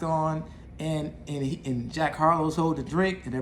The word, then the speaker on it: Jack Harlow: this guy named uh jack harold hold up i think i mispronounced his name let me go ahead and take a look at my notes everybody let's make sure i get this right so his name is jack harlow he is a i